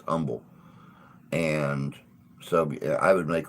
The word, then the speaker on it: Humble: was based out of Umble Texas um spelled humble but you know it's pronounced Umble and so I would